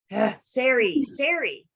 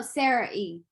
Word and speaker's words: Ciari: Sari. No, Sarah E. Sarah E. Yeah. Just like it's spelled.